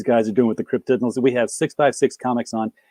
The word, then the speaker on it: Cryptidnals: It's like cryptids and criminals put together. It's Cryptidnals.